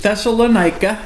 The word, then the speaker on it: Thessalonica: But yes, no, it's Thessalonica. Yeah, that's okay. And the emphasis is on the nigh.